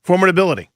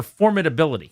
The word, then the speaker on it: formidability: that's a word formidability he I think he just stretched the wrong syllable but he's looking for formidability formidability intimidation factor impressive nature we're Talking formidability.